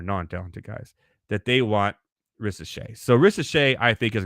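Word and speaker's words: Risacher: ret now or R I know the r is silent he's French okay and and the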